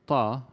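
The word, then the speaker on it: ط: a duck now again the second letter in this word ta is not the sound is not available in english we have tea in english but ta is coming actually from the back of the mouth while t is coming from the front okay so we'll talk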